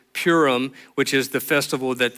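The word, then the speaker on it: Purim: this highlighted per it's you're probably thinking I'm saying it wrong it's it probably is but it's Pim which in in the way that we would say it is purum which is the festival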